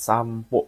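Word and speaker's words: さんぽ: Ya, ini kanji ini bacanya tuh yang ini nomor 4 sampo. Pokoknya pendek ya, jangan panjang.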